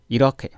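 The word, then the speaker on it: 이렇게: अब अर्को पनि हेरौँ, इरखे भनेको यसरी, इरखे भनेको यसरी। यो उदाहरणमा हामीले के राखिएको छ भन्दाखेरि, ग प्लस ह आयो अथवा ह प्लस ग आयो उच्चारण भन्ने बेलामा ख भन्नुपर्छ, द प्लस ह आयो,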